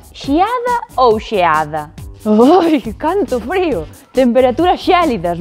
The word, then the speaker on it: xeada: Pois que ese E de xeada pode pronunciarse tan pechado que parece que dicimos xeada, con I.